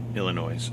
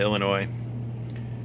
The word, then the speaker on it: Illinois: should get into Illinois Illinois I always put an S in the end I know it's silent but uh that's how you spell it so that's the way I say it and since I love